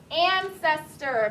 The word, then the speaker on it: ancestor: How many syllables is ancestor? Aaron? 3. Ancestor. Ancestor. A-N-C-E-S-T. C. Soft C, not S.